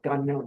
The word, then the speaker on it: Gagnon: And that is how you say my name, Gagnon. It's not Gagnon. That sounds horrible.